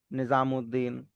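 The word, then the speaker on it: نظام‌الدین: जाएगी अल की और सन लेटर्स के साथ साउंड उस या उध डबल डबल हो जाएगी। हां वो उ की साउंड रहेगी और नेक्स्ट लेटर का जो नेक्स्ट वर्ड का पहला लेटर होगा उसकी साउंड के साथ वो उस या उद या जो भी वो जिससे स्टार्ट हो रहा है वैसा हो जाएगा लाइक कमरुद्दीन निजामुद्दीन अब्दुल्लाह अब्दुल्लाह में भी ऐसे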